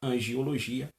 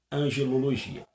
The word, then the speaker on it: angelologia: Nunca angiologia, mas sim angelologia.